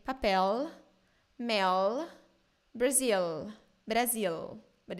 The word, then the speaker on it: papel: So the L in the end of words and syllables in Brazilian Portuguese sound like U. So I will read these three words for you. So say, in Brazil we say papel. Papel. Mel. Mel. Brasil. Brasil. Not papel, mel, Brazil.